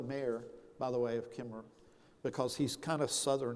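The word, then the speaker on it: Kemmerer: by the way of Kimmer because he's kind of Southern in a way um I mean Kimmer is actually spelled with another syllable but they don't mention it which is very Southern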